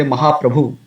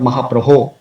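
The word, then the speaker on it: महाप्रभो: Often devotees say Mahaprabhu instead of Mahaprabho.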